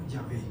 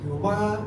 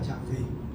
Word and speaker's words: Yahvé: explícitamente el nombre inefable el nombre de Dios que como usted sabe era yahvé no era Jehová no era yahwe Era yahvé Y lo siento en